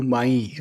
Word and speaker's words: MAE: different so it's it's pronounced as may as in the month of May because I'm born in